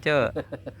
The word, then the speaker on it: Chu: di perbengkelan biasanya Pak Cu gitu Gak tahu namanya pak ya karena Nama saya tapi dipanggil Pak Cu itu karena ejaan saya